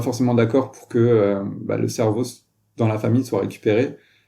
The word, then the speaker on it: CERVO: Il faut donc s'enregistrer en tant que donneur auprès de centres de recherche universitaires, comme la banque de cerveau du centre de recherche Cerveau, qui s'écrit CERVO, de l'Université Laval.